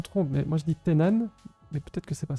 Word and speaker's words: Thennan: si je me trompe, mais moi je dis Tenan, mais peut-être que c'est pas ça. C'est c'était Nan, tu le c'est dis bien. Tenan.